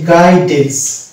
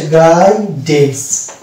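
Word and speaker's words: guidance: তাহলে ইউ এর আগে যদি জি এবং পরে যদি ভাইল পাই তাহলে আমরা সেখানে ইউ কে সাইলেন্ট ধরবো। এরকম ওয়ার্ড এখানে যেটা পাচ্ছি গাইডেন্স, এই শব্দটা হচ্ছে গাইডেন্স, এখানে আমরা ইউ কে সাইলেন্ট পেলাম, কেননা জি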